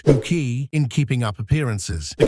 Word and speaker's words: Bucket: In 1990, she took on the role of Hyacinth Bucket, pronounced Buki, in Keeping Up Appearances.